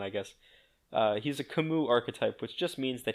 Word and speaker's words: Camus: canvas archetype I've always referred to him as Camas but it is canonically pronounced Camus because of Heroes God I really wish it